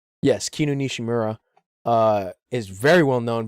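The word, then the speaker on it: Kinu Nishimura: kinun nishimura is also I believe it's kinonishimura hold on I don't want to like mispronounce her her name yes kinunishimura uh is very well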